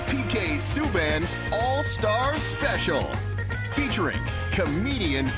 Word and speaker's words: Subban: the San Jose improv my full name is pronounced Subin but since I didn't